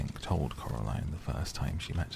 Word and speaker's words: Coraline: told Coraline the first time she met her. "You see, Caroline, Miss said, getting Coraline's name wrong.